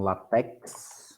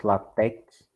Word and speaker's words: LaTeX: A pronúncia, alguns falam LaTeX, outros LaTeX. Não vai fazer muita diferença.